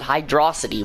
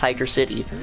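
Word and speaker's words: Hydrocity: see if some people like to call it hide raza t which is not even its name it's actually called it's actually pronounced hydra city real depending on its acts out depending on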